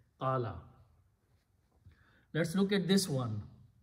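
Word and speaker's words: قال: Fa'ala, so sound should be qawala. In the original, qawala means he said, but waw is a weak letter and it has a wrong letter wrong fatha on it one wrong thing because waw goes with damma. So, this is a mismatch. So, we fix mismatch by replacing this by a sound of alif. And the word becomes qala.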